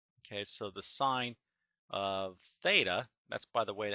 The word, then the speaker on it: theta: So the sine of theta, that's, by the way, how we pronounce that little variable, is the opposite, which is y, over the hypotenuse, which is r.